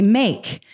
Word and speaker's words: make: We say make. The A is long because we have this silent E after this consonant here, right?